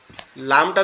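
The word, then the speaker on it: لام: এবং লামটা এক জায়গা থেকে জিহ্বার আগা উপরের তালুর সঙ্গে লাগবে, লেগে উচ্চারিত হবে লাম লাম, এরকম ভাবে।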